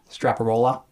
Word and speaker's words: Straparola: bianca bella and a snake by giovanni francesco straparola right that's how you pronounce it straparola okay it starts with this moral and i